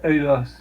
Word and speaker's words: Adidas: It's pronounced Adidas.